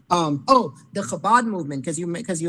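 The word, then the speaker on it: Chabad: the Chabbad movement or the C hab it's pronounced Kabad but um so that a lot of people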